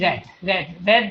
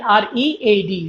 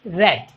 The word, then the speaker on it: read: This sounds like red, R-E-D, red, the color, yeah. But the spelling is R-E-A-D, read. But we don't say it read because the past tense is red.